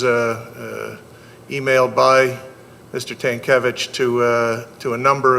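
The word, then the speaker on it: Tankelewicz: the last name t-a-n-k-e-l-e-w-i-c-z tankevich is how i would pronounce it hopefully i'm right um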